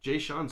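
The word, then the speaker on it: Jae'Sean: rockets and franz wagner for the orlando magic j sean's that's crazy his name is spelled j-a-e uh apostrophe a s-e-a-n j sean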